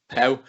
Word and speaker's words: Pauw: Then how do you pronounce her surname? Pauw. I was gonna kind of go with Paw, but there's a W in there, and I